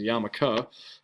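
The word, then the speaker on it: yarmulke: your cultural group so like me I wear yamaka which is written like this even though it's not pronounced Yul it is yamaka um it's just kind of the Hebrew translation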